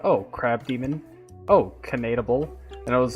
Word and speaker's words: Keneteu: Is it Keneteu? Keneteu? It's actually Keneteu.